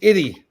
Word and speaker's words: Itty: Her name is Itty. Like that rhymes with idiot, but Itty.